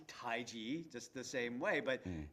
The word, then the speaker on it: taiji: English alphabet in Chinese the way that you pronounce what we say taiji is taiji taiji taiji and it's almost like G whiz you know taiji and